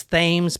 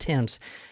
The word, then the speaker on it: Thames: is Mary Emma Tims spelled just like the uh River in England in England t h a mes okay so a lot of people would think it was themes but it's actually spelled